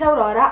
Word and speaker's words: Aurora: kind of embarrassing so my name is Aurora I'm 15 years old and I am Italian that's why I actually um pronounce my name like that cuz I don't know how to say it correctly in English now that I told you